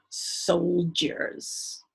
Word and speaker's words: soldier: this soldier because ear when you say it fast goes j amazingly enough but you don't spell it with a j or a g sold e er soldier